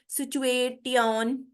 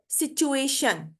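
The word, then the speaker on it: situation: होता है ठीक है तो यहां पे देखें यह वर्ड है सिचुएशन सिचुएशन पोजीशन ट्रेडिशनल स्टेशन ठीक है तो ये शन की आवाज देगा टी आई ओ एन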